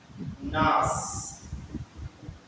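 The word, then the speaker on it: gnash: जब जी के बाद एन रहे तब जी का उच्चारण नहीं होगा। जी एन ए एस एच नास गुस्से से दांत पिसना।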